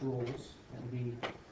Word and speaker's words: Rolle: Raleigh's theorem, which is not pronounced Rolle's, that would be R, does not apply.